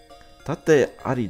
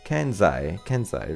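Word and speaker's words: 健在: Ara, Sumumi ga Sakura-san, tate ari dattan desu ne. That's not right. Tate ari is not what that how you pronounce that for sure.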